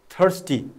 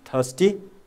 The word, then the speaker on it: thirsty: northern American people say thirsty see be careful British people don't pronounce raw sound their ROI is silent okay but American people